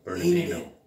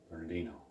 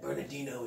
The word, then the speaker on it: Bernardino: Bernadine. She sometimes has difficulty pronouncing Bernardino. Bernardino. It's all right. You don't need to feel bad. Bernardino, it's you'll get it one day.